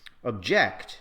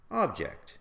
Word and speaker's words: object: For example, we say record as a verb, record as a noun, object as a verb, object as a noun, present as a verb, present as a noun.